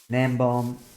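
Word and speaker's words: Gnembon: Nembom is spelled with a G at the start, so Gnembo-N, and El Mango is Ilmango.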